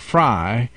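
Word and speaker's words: Frei: It sounds like it, and you know that's the Fry family, and for those who can't see the words that you and I are seeing, that's spelled F-R-E-I.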